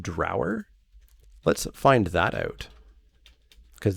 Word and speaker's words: Draugr: an old norse thing the old norse pronunciation would have been draugr where the first syllable rhymes with now sounds more like draeger